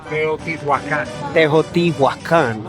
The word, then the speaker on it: Teotihuacan: Now, how do we pronounce it? Teotihuacan? Teotihuacan.